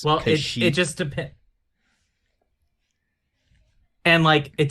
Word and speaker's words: Kashyyyk: Is it Kashyyyk or is it Kashyyyk? Oh, see, I say it's Kashyyyk. Like, is it Leia or Leah? Right, that's fair. Because how it's spelled is Kashyyyk. So it could go both pronunciations technically. But I mean, commonly it's Kashyyyk.